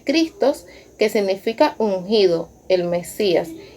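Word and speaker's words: Χριστός: Pero si vamos al significado de esta palabra, cristianos, viene del griego 5547, que se pronuncia Christos, que significa ungido, el Mesías.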